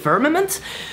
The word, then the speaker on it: firmament: So to pronounce firmament is actually easy. Just go with firmament, replace the which doesn't sound, you know, like moist, and replace it with a double E sound.